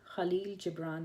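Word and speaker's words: Khalil Gibran: and it's by KH I'm not sure if that's how it's pronounced KH Khal jibran that's how I pronounce it and it's a poetry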